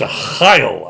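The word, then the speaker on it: Arraial: The game I played was a game that spelled a Ryle, but it's pronounced a Heil, I think.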